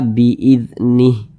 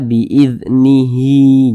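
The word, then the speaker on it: بإذنه: Kemudian ini kalau kita berwaqaf tepat di huruf H, kita baca biiznih. Jangan dibaca biiznihi, jangan.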